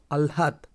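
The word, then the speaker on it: আহ্লাদ: উচ্চারণ কি হবে লহ আলহাদ আলহাদ আলহাদ আলহাদ রানে আগে ল উচ্চারণ হবে তারপরে হ উচ্চারণ হবে আলহাদ ঠিক আছে স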